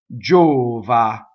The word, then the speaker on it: giova: k jo huh and this is a stressed oh and it is closed Java notice the other mistake that we could make would be to neutralize Oz right so we could say Java with as we do in English Rae Kate Java make sure you get all the way to ah at the end Java okay